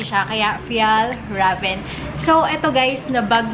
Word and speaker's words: Fjällräven: So, akala ko dati yung pronunciation niya is Fjällräven. Pero ayun, silent J siya, kaya Fjällräven.